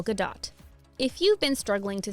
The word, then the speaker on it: Gadot: It isn't the same as Waiting for Gadot, the play by Samuel Beckett, or any other variation of that. Her name is Gal, rhymes with pal, Gadot, heavy on the T, and sounds like lot.